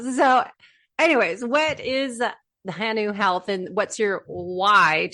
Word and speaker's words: hanu: this one that it is indeed hanu and pronounce hanu but maybe Hannah was turtle and uh I